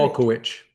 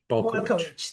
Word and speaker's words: Balkowitsch: So Balkowitsch, is that right? Did I pronounce it or butcher it? Balkowitsch. Balkowitsch, thank you.